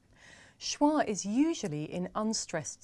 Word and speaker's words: schwa: John no not really it's actually called schwa schwa which is pretty strange when you think about it because the word schwa doesn't have the schwa sound uh in it so why is